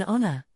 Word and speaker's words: honor: An honor, similarly, the H in honor is silent, giving it a vowel sound, so we use an.